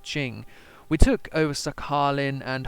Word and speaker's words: Qing: there is the great I think this is pronounced Ching we took over sakhalin